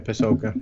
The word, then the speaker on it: Pasulka: Pasulka? Is that how you pronounce it? Yeah, Diana Pasulka.